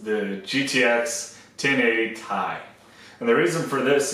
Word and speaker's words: Ti: the 1080 sitting on a tie, therefore being Ti, ha.